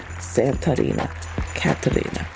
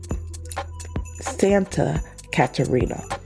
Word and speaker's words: Santa Catarina: Santa Catalina, Mexico. All right, so the top three Christmas events and Santa Can look I I totally butchered that. Sorry. It's Santa Santa Katerina.